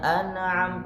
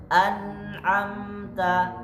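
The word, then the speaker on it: أنعمت: Keliru an banyak bacanya Anam tanpa disadari ada pantulan di huruf nun Anam bacaan yang benar anamta anamta yaai jangan alai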